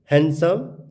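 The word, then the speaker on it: handsome: तो रूल बता रहा है कि एन डी प्लस कॉन्सोनेंट, तो डी क्या हो जाएगा? साइलेंट। तो हैंडसम, सैंडविच, ग्रैंड मदर, इसको हम ग्रैंड मदर नहीं बोलेंगे, इसको हम बोलेंगे ग्रैंड मदर।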